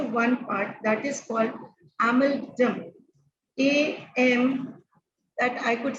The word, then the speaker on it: amygdala: Part that is called amygdala. AM, that I could spell that word. Maybe the pronunciation may be of the different, right? That is AMYGDALA. That I pronounce as amygdala.